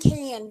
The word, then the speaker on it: Cannes: It's Cannes, pronounced like the can.